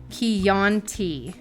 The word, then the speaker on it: Chianti: Chianti. I'm so high, I I would still love- couldn't even pronounce it.